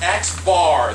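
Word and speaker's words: x̄: All right, first things first, this is X bar, that's how you say it, and that's going to be your new symbol for the mean.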